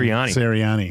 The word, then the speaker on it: Sirianni: Sirianni.